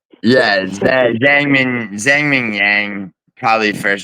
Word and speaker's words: Zhang: Zang. Zang. Okay. Here. Don't Don't look at how it's spelled.